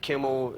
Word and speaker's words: Kimmel: Lucky, like Kimmel, it only rhymes with nimble, cymbal, and thimble.